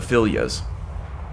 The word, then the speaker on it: Filia: Triumvirate package is the Filias. The Filias. I think I had a debate with Haster about how to pronounce this, and he was pretty certain it was Filia.